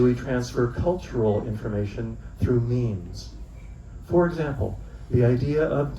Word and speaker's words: meme: A meme, rhymes with dream, is a unit of culture.